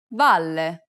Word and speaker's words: valle: This is a common mistake because many students aren't aware that double consonants are actually pronounced for a longer duration in Italian than they are in English.